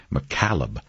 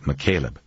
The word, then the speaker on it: McCaleb: enough not to forget she had mispronounced the name saying McCallum instead of McCaleb and used the formal